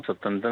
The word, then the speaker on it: सत्यंतर: नमस्कार सत्यंतर क्या मैं आपका नाम सही से प्रोनाउंस कर रही हूं? जी मैम मेरा नाम सत्यंतर है।